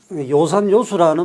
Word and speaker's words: 요산요수: 그래서 요산요수라는 말이 있습니다. 어진 사람은 이게 여기서는 좋아하다 한다 때는 우리가 음으로 발음합니다.